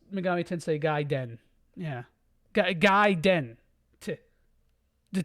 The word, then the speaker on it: Megami Tensei Gaiden: Yeah, it's pronounced Megami Tensei Gaiden.